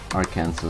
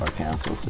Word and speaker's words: Arkansas: Yeah, the joke is that Arkansas is not pronounced Arkansas, it's actually pronounced Arkansas.